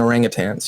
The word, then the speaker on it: orangutan: means you know and I'm very specific in pronouncing it because a you know people say orangutang and orangutang means a very poor person and orangutan means wise man of the woods so it's like again